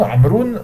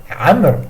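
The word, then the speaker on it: عمرو: Amr. Et non pas amrou, amr. Parce que si je m'arrête, je dis pas amroun, hein, amr.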